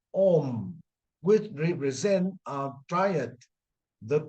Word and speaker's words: Om: The syllable Om is composed of the three sounds A, U, M, Om, which represent a triad,